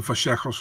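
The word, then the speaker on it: Vallejos: And I think Kevin Vejos looked great on the Contender Series. That's how you pronounce it.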